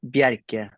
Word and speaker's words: Bjerke: It's a Norwegian name, so it doesn't really work in English. So someone should tell me how I'm supposed to pronounce it because I have no idea. It's pronounced Bjerke in Norwegian, but, I guess everyone can pronounce.